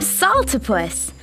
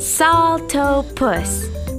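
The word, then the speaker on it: Saltopus: was my bad hyah I am Salta puss that's pronounced salto puss it means humming foot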